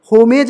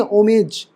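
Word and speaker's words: homage: पढ़ते हैं ठीक अबब फिर ओमेज होमेज नहीं ओमेज हम मतलब मतलब समझ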